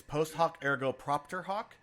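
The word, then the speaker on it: post hoc ergo propter hoc: not there you know actually said it wrong it's actually it's post hoc ergo propter hawk so this one's a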